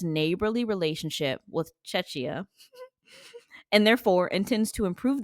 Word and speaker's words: Czech: I think it's just pronounced Czech. The Czech Republic. Czech. Yeah. Czech.